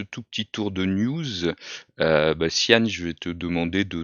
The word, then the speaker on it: Cyan: C'est Sian, on prononce Sian? Tian, Sian, ok.